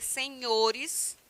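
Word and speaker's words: señores: me perguntou recentemente E por que na língua espanhola não tem o NH e entanto a gente pronuncia senhores tá como se tivesse o NH por quê Porque esse tio aí em cima do n ele tem esse som para nós de NH então senhores É como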